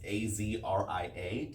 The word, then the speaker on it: Azria: It's Azria.